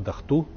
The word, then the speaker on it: Датку: Но часть элиты Хунзаха во главе с представителем царской династии, неким Датку, сейчас это имя произносится у аварцев как Дахту, особенно у южных аварцев довольно распространено, у тляртинцев, чародинцев там и других.